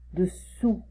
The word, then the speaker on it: dessous: Ok, dessus, dessous. Je retire la langue. Dessus, la langue elle est devant, derrière mes dents. Et dessous, je retire la langue.